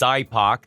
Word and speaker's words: SIPOC: end prior to implementation sipoc pronounced sidepac diagrams are also referred